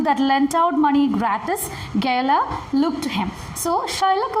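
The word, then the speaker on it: Gaoler: Gala is the pronunciation. It is for jailer.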